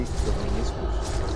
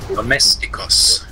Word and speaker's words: Domesticus: There is no N inside. Because you say Dominiscus. It sounds like a disease for the knee. Dominiscus. Domesticus.